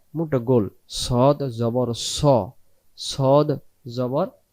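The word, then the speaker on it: ص: ধরে যেমন করে ডাকছি সদটা গোল উচ্চারণটা গোল করে ছেড়ে দেব সদ জের সদ জের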